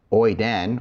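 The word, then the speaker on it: οἶδεν: And so oiden or oide is how you say he, she, it knows.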